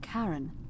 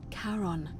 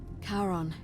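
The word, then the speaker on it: Charon: as you described it only your pronunciation is a little off the name you heard wasn't karen it was c-h-a-r-o-n as in caron the ferryman of the dead karon who in exchange for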